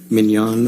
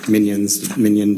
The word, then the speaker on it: mignon: then followed by anything followed by Mignon or Minion, depending how you want to pronounce it, sort of a portmanteau